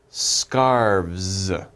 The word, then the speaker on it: scarves: or many we say scarves scarves okay you guys try scarves scarves okay so we have v and s okay don't pronounce the e scarves so one scarf